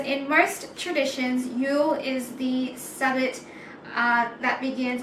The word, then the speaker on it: Yule: Is pronounced Yule, like Y-O-O-L, and then the themes says rebirth, quiet introspection, new year, hope, setting intentions, and celebration of light.